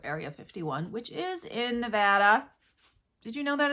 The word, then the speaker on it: Nevada: Named after, of course, Area 51, which is in Nevada. Did you know that it's pronounced Nevada?